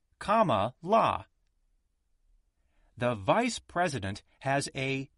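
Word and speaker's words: Kamala: president is kamla Harris she says her first name is pronounced comma La the vice president has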